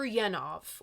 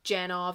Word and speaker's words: Janov: In 1970, Freudian psychologist Arthur Janov or Janoff, I've heard it pronounced both ways, sends his Primal Scream No, not that one, book for John and Yoko to review.